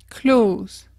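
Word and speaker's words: clothes: au début parce que j'ai toujours tendance à vouloir prononcer le e s à la fin donc je disais close et en fait non pas du tout il suffit de le prononcer comme le verbe clause qui signifie fermé klose numéro 8 h tu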